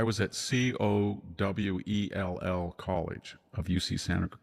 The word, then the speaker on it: Cowell: And he said, "I was at Cowell College of UC Santa Cruz, Cowell." And he said, "Say it." I said, "I'm from Cal College." He said, "It's not Call."